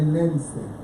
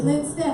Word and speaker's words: Linstead: They've not pronounced it the way I'm saying it. They say Linstead. Like that. Linstead, but it's Linstead.